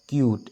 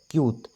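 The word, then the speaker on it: cute: mud এইটো লং সাউন্ডত চাওক ক ইউ ত কিউট এইটো ক ইউ ত কিউট ইটো সাইলেন্ট হৈ আছে গতিকে ইউৰ সাউন্ডটো ইউৱে হৈছে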